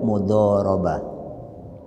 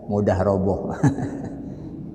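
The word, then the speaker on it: مضاربة: Terus yang kedua, kerjasama dalam bentuk mudharabah. Kalau yang tidak begitu biasa dengan membaca Arab, ada yang guyonannya itu mudharabah dibacanya mudah roboh. Roboh. Mudharabah ya.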